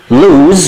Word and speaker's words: lose: lose في زد كده، lose الاسم بتتنطق زد والloose loose.